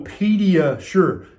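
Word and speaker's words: PediaSure: the ingredients and so pedia sure kind of rhymes with pediatrician right and you've heard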